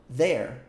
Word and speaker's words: their: gente fala que é their. Their. Their. O que isso te lembra essa pronúncia? Aquela palavra, né? There, que significa lá, lá, ali ou aí. There. Pronúncia de fato pode fazer igual, tá?